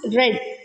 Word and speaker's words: read: Its past and past participle forms are spelled read but pronounced red, like the color red.